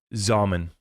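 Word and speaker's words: Xaman: How do you spell that wallet? It's X-A-M-A-N, Zaman.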